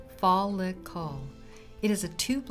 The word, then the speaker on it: follicle: look at hair anatomy first is the follicle pronounced fall look call it is a tube like pocket in the